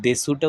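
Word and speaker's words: です: বয়স বা বছর এবং দেসুটা উচ্চারণ হবে দেস ওয়াতাসি ওয়া নিশাই দেস অর্থাৎ আমার বয়স দুই বছর।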